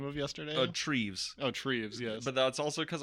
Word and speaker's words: Treves: And who did I tell you were mispronouncing the name of yesterday? Treves. Oh, Treves, yes. But that's also because I saw how it was spelled, and I was like, Trevor's?